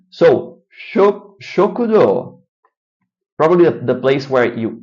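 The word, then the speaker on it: 食堂: Shokudo. Very good. They extend the O, shokudo. And it's not an O, it's spelled with a U.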